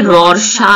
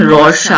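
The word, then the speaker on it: Rorschach: Okay, अच्छा इसका जो प्रोनंसिएशन है ये रोशा है, ये थोड़ा सा फ्रेंच नाम है ना, तो इसलिए फ्रेंच हैं कि स्विस हैं, स्वीडन के हैं, लेकिन इनका प्रोनाउंसिएशन रोशा होता है इसका।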